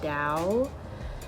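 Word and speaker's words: Dao: He goes by the name of Evan Dow. I believe that's how you say his name, his last name, D-A-O.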